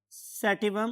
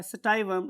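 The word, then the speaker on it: sativum: That was Pisum सैटिवम, और मैंने कल वर्ड यूज़ किया था सटाइवम. आप दोनों में से कुछ भी याद कर सकते हैं या बोल सकते हैं. अगर आप इंटरनेट यूज़ करेंगे और डिफरेंट प्रोनाउंसिएशंस देखेंगे तो आपको स्टाइवम और सैटिवम दोनों प्रोनाउंसिएशंस मिलती हैं.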